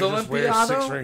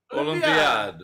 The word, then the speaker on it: Olympiad: I thought Olympiado. I was like, wait, it was Olympiado? No, it was Olympiad. Olympiad. So when my great grandfather came over, they didn't know how to spell it or what the fuck he was saying. So it got changed to Olympiad. Your man's probably said it. Olympiad. Olympiad. Olympiad.